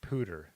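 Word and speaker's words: Poudre: different you know uh rusty said p-o-u-d-r-e is pronounced pooter the Pooter River gotcha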